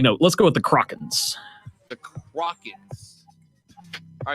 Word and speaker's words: Kraken: Let's go with the Krakens. The Krakens. All right, so I'm sitting at 9-5 or 9-4. 9-4. 9-4. Oh, so I'm good. All right, now I'm playing to stay at 750 or above. Krakens.